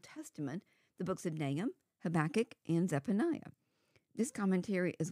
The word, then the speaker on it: Habakkuk: well I guess it's no secret how I pronounce it since I said it in the title habach in the course of writing this study I discovered there are more ways to pronounce habach name than I ever imagined including habac and